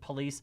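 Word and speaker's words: Pullease: of christopher police sergeant police i know it sounds like i'm saying police i'm not i'm not saying his name right the way you spell it is p-u-l-l-e-a-s-e i think we're going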